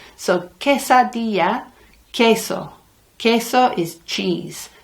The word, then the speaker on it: queso: queso queso is cheese never ever pronounce the Q in Spanish as a it's a qu it is in English sometimes but in English sometimes it's also a c like antique or keyside well it's always a c in espanol it's nice that Spanish